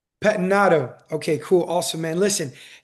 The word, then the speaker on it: Pettinato: How do you pronounce David Patnado? Patinado.